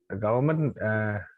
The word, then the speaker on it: government: The government always government. Don't pronounce government. Government. The government. No, not government. There should be N in the middle.